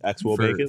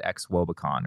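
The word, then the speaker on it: xwOBAcon: But Paul went, and during our conversation, he called it X Wobacon, or expected Wobacon. Which I think is actually the correct, if there is a correct way of saying a like sort of fabricated word.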